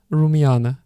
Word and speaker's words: Rumyana: gaunt face so apparently I was pronouncing the name of the protagonist wrong all the time the correct name is rule me an rumyana and this is a